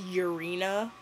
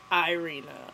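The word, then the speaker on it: Irina: my spirit animal okay her name is urina like urine I thought it was was Irena like CU spelled with an ey also all the Alaskan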